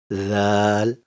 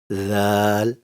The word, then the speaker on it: ذ: Zal. It is produced from the same place, but slightly higher than Tha. Now watch the slide and repeat after me. Zal, Zal, Zal.